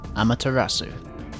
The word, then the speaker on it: Amaterasu: Amaterasu. That's how you say it.